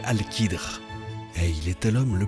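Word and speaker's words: Al-Khidr: Eh bien, l'histoire nous apprend que son nom est Al-Qadr, prononcé Al-Qidr, et il était l'homme le plus savant durant cette période.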